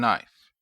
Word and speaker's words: knife: ship, flow, house, and knife. I draw your attention to the consonant digraph SH in ship. I also draw your attention to the consonant blend FL in flow and the silent K in knife.